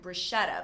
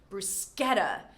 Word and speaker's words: bruschetta: I always used to say, before this lesson, bruschetta, but it's actually bruschetta.